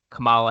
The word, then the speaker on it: Kamala: are you talking about rhymes with pamela what the [ __